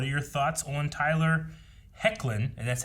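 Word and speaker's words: Hoechlin: thampi says what are your thoughts on tyler hecklin and that's how it's pronounced thank you for giving me pronounced heclin uh clark superman the suit is great as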